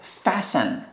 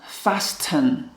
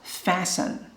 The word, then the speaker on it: fasten: Pay attention to this word, fasten. You know, in the past several years, I read like fasten, but actually letter T is silent. We don't have to pronounce letter T. So just fasten, to fasten, to undo,